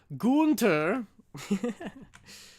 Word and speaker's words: Gunter: Gunter. Right. That is how you pronounce it.